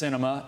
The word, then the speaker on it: Sinema: Quote, the Arizona senator's name is pronounced Sinema, and it is apt because she sweeps.